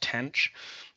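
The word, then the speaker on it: tanh: Uh, sometimes pronounc pronounced tanch um, which you may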